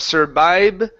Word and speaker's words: survive: So, right now what you're doing, you're pronouncing B sounds like boy. Okay. So, instead of vibe, okay, it's a V. So, your teeth need to touch the top of your lip, your bottom lip.